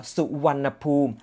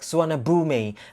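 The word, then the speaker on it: Suvarnabhumi: the last sound uh in thai pronunciation it should be pronounced like uh su wannapoom that is thai so one poem that is like hello snack car so rich swanna boom that is type pronunciation but then when you spell it in english word and then uh non-thai speakers will pronounce it like swannabumi because of the way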